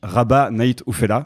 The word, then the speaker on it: Rabah Nait Oufella: un vieux compte Twitter c'est donc Raba night oufela je prononce bien c'est ça exactement merci pour la prononciation c'est rare ah